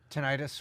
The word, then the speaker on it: tinnitus: How do you pronounce that, Tom? Tinnitus. Tinnitus.